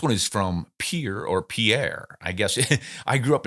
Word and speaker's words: Pierre: in South Dakota where the capital city is pier and it's spelled like the French Pierre but no South Dakota Cowboys going to go around saying Pierre so it's Pier but I'll bet you